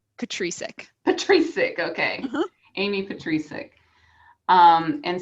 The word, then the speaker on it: Petricek: Amy Petricek. Ooh, that's one option. So my husband goes by that one. I go by Petricek.